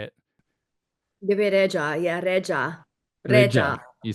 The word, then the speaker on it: Bebe Rexha: Lipa, Bebe Rexha, but I go out of my way to make sure I pronounce it the Albanian way. So I hope you don't mind that. So everyone in Melbourne hears Bebe Rexha.